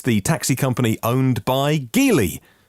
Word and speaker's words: Geely: LEVC, it's the taxi company owned by Geely. Or maybe it's Geely, as I've heard it pronounced lately.